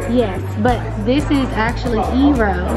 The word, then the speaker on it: eero: of this is it it's actually eero okay it means water in japanese oh okay awesome so